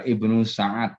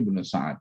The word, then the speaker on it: Ibnu Sa'ad: Itu yang benar adalah Ibnu Sa'ad sebenarnya. Ya. Itu S-nya kebalik. Bukan As'ad tapi Ibnu Sa'ad, ya. Ibnu Sa'ad ya. Ya, Ibnu Sa'ad. Itu kitabnya di bawah itu sudah benar At-Tabaqat Al-Kubra. Kalau At-Tabaqat Al-Kubra itu Ibnu Sa'ad, bukan Ibnu As'ad.